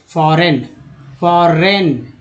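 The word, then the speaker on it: foreign: Heritage, फॉरेन, जिसमें जी जो है साइलेंट है, इनका उच्चारण होता है।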